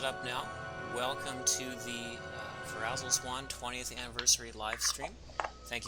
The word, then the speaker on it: Ferazel's Wand: Hello, and I'm sorry to break any illusions, but it's supposed to be pronounced Ferazel.